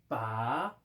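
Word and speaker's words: 把: 중국말 발음으로는 빠, 삼성이야. 빠고 우리 발음으로는 파라고 하는데 이게 쥘 파자야.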